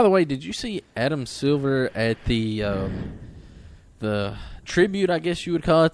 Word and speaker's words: Silver: I'm sorry so it's it's not it's not Adam Silva it's Adam Silver I guess I just say it wrong Silva Silva you got